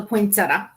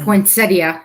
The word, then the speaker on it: poinsettia: sorry fol a legend M uh about the poinsetta what's that or poinsettia however you want to pronounce it putting on ER it's a a